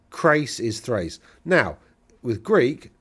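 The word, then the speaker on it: Chrace: It's Crace. The reason it's Crace is because, and not Trace. I hear some people trying to go a race, trace. It's not that, it's Crace.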